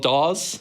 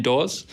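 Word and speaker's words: Dawes: And there's a new band called Doors. I have to say it like that otherwise you think I'm saying Doors.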